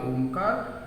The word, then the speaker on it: ओम: यहाँ से हमें करना है त्रिवार ओमकार। गहरी सांस लेंगे और ओम का उच्चारण करेंगे, अ, उ और म।